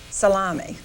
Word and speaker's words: Salami: And the father of the family is Salami. And he said, pronounced just like you eat.